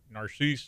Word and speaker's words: Narcisse: And I said, and he said, but it's pronounced, Narcisse, and I was like, Yeah.